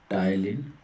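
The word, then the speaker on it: ptyalin: P silent होता है, टाइलिन होता है।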